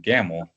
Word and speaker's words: Gamel: So they decided to make his last name Gamel because it's easy to pronounce and it rhymed with the Camel cigarette.